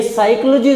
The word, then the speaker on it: psychology: मैं आपको बता दूं, ग्रीक की जो भाषा है उसका पहला अक्षर साइलेंट होता है। ये ध्यान रखना है। जो मीनिंग जिसका प्रथम अक्षर साइलेंट है वो ग्रीक भाषा का है। इसलिए साइकोलॉजी जो शब्द है मुख्यतः वो किसका है?